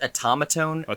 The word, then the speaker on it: automaton: this right but the atomotome covers yeah it's pronounced automaton to my knowledge i mean who knows